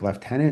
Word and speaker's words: lieutenant: I'm not sure which Canadians use like should we use the British one like left tenant instead of lieutenant.